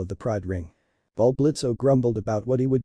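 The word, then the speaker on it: Blitzø: Blitzo, the O is silent, the imp in charge, ranted furiously.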